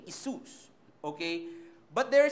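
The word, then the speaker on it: Ἰησοῦς: the Greek New Testament, it spells like I-E-S-U-O-S. So, it's like Isus, okay? So, that's how you're going to pronounce that name, Isus, okay?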